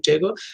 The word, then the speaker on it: Tagore: Tagore is, of course, Rabindranath Thakur, but that is the anglicized pronunciation of his last name, Tagore.